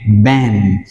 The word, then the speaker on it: band: A này đọc là e, các bạn nhớ đây là A-E, đọc là E, band.